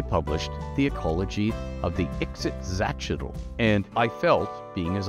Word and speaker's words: Ixitxachitl: rays known as the exit zatchetal yes that's how you pronounce them with the emphasis the emphasis the emphasis on the Zatch just remember that it's